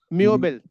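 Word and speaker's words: Möbel: मैंने आपको देखा दिया एग्जांपल टेक्स्ट बॉक्स में चैट बॉक्स में देखिए मोब ओम लाउड बी ई एल तो प्रोनसिएशन क्या होगा? मबल मबल मबल म ये ओ से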